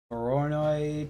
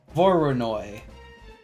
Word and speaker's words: Voronoi: more Xenoblade uh so need a verono texture is that how you pronounce it v v voronoi that's what it's called I'm going to actually